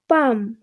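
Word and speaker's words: palm: তো এই দুটি শব্দ দেখতে পাচ্ছ, এল এবং এম পরপর আছে এবং যেহেতু এম এর পরে কোনো ভাওয়েল নেই, তাই জন্য এখানে এল অনুচ্চারিত আছে, অর্থাৎ এল এর উচ্চারণ হয়নি।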